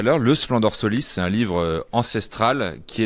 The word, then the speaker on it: Splendor Solis: Rappelle-nous comment tu le prononces. Splendor Solis.